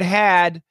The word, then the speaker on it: had: Now, this word had, there's no H pronunciation.